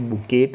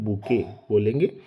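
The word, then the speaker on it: bouquet: हैं बुके है ना इसमें टी को साइलेंट रखते हैं बात करते हैं तो बुकेट नहीं बोलेंगे बुके बोलेंगे और इसके अलावा फ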